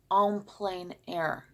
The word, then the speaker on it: en plein air: Or you can also pronounce it en plein air. That's French.